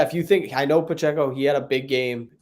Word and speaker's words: Pacheco: the name for me I thought it was Pacheco but Pacheco that's what it is nope oh yeah no